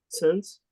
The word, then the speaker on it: Sens: From Sens, S-E-N-S, how do you pronounce that? Sens?